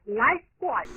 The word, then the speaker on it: Lifebuoy: O sabonete estimulante, agradável, refrescante, que se escreve Lifebuoy, tem pronúncia bem correta. É bem simples e discreta. A pronúncia é Lifebuoy.